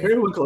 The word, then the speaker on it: periwinkle: Periwinkle is the correct number of syllables. I'll go with that. It's got the same cadence as Merriweather.